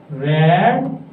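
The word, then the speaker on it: read: आई NG form को हम हटाएंगे तो बीन रेड यहां पर एक बात मैं क्लियर कर देता हूं कि रीड की सेकंड और थर्ड फॉर्म रेड बोली जाती है।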